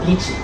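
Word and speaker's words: lychee: And they were advertising, I don't know how to pronounce it. Um, do you know those fruits called lies? I know. It's called luchi.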